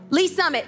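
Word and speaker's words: Lee's Summit: um is that i say it right yes lee summit yes she's my witness i'm not lying every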